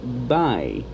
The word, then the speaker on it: Bai: to back to dubai's i found out that's how this is pronounced by these are these uh